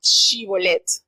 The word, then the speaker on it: Shibolet: Ellos le decían, no eres, le hacían la prueba, di Shibolet. Y ellos no sabían pronunciar la sh, sino decían la s.